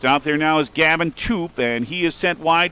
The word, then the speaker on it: Toop: T-O-O-P, but the young man pronounces it Toop.